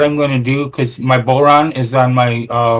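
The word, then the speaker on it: bodhrán: and whatever it is it's spelled b-o-d-h-r-a-n but it's pronounced boron okay and whatever i'm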